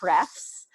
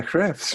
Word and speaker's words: href: it right today, but normally I naturally say hrefs.